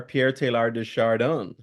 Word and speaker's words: Pierre Teilhard de Chardin: but um that's how I was taught to pronounce it so I'm not French